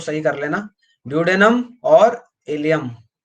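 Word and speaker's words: ileum: या इसको कई जगह आइलियम भी बोल देते हैं, प्रोनाउंसिएशन में क्या बोल देते हैं, आइलियम। तो कंफ्यूज मत हो ना, इलियम आइलियम एक ही बात है।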